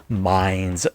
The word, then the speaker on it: Mainz: how to pronounce that it is pronounced mines germany so uh things have